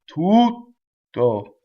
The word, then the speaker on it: tutto: So the space makes the expression, not the consonant itself. Tutto.